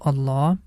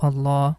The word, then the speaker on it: Allah: we pronounce letter Lam in the name of Allah with heavy sound I hope you got